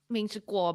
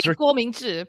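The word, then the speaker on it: 郭明錤: Ming-Chi Kuo, but I mean, he probably has his Americanized pronunciation. Let's just have the better pronunciation in there. So it should be Guo Mingzhi, probably, but so that man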